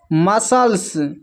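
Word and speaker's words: muscles: जब एस के बाद सी आए तो सी साइलेंट होता है।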